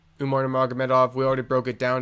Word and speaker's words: Umar Nurmagomedov: Merab Dvalishvili, Umar Nurmagomedov, we already broke it down.